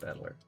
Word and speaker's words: Battler: Battler is made up of the characters for fight and person, and it's pronounced Battler.